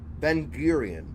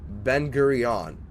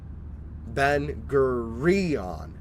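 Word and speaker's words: Ben Gurion: Um, Benerion. Damn it. That doesn't sound right either. I'm not This dude had a 30 second introduction for how to say the name. Can I just hear it, please? How do you say it? Bengurion. So Bengurion. Okay.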